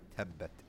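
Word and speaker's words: تبت: we talk about makharij, you might hear the type of whistling when you pronounce the t. That's actually incorrect. If you're doing that in a regular reading, like any regular word, that's fine. But when you're doing it in Quran, it's incorrect. You have to make it dry. Tabbat. Okay, you hear the difference? Tabbat versus tabbat. So that whistling sound you want to avoid when pronouncing the ta, and that subject is called makharijul huruf.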